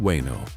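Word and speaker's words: Veino: The story begins in Hubbedston, Massachusetts, in 1947 with two men, Veno Holopinan, pronounced Weno, and Roy Handy Jr.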